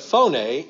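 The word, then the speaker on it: φωνή: word it doesn't it pho any phone in English but phone a in the Greek and what does that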